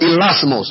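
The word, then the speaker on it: hilasmos: The word propitiation is the Greek word elasmos. I'll spell it for you.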